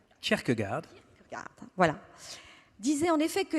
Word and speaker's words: Kierkegaard: Le philosophe danois Kierkegaard disait, on prononce, Kierkegaard, voilà, disait en effet que les gens exigeaient la liberté d'expression pour compenser leur liberté de penser, qu'ils préfèrent éviter.